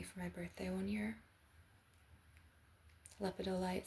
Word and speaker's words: lepidolite: Lepidolite. Some people pronounce that as lepidoly.